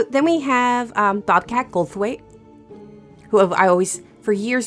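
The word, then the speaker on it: Goldthwait: So then we have um Bobcat Goldweight who I always for years and years have always said his name wrong. I know. Me too. I said gold waif.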